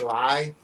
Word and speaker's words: Li: a guy named Bruce Lee that got very familiar with him. Yeah. And it's spelled L I versus L E, which is still pronunciated Lee, but you know,